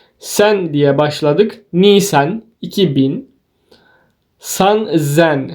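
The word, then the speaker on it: 三千: diye başladık nen 2000 San Zen san sen değil de burada bir s'nin üstünde bir işaret var şurada bu bu harfi Z'ye dönüştürüyor sanzen D aynı yonen Go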